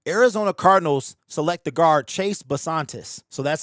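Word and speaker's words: Chase Bisontis: So with the 34th pick in the 2026 NFL draft, the Arizona Cardinals select the guard Chase Basantis.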